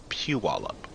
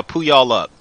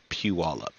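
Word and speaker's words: Puyallup: wallup ah a oh pew pew all up Pew wall up okay yeah I kept saying Yeah P y'all up um cuz that's how it's spelled it spelled Pew y'all up and I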